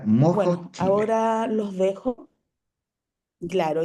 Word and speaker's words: MOHO: Es m O ho. Mo, su pronuncia se pronuncia mojo.